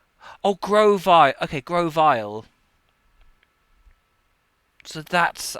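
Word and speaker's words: Grovyle: So that's uh Gravile. Gravile. Which is the the first? Just double check how how to pronounce pronounce Oh, Grovi. Okay. Grovile.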